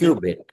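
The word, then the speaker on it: qubit: Is it is it quit bit there? Pronounce it correctly. Quad bit. Cubit.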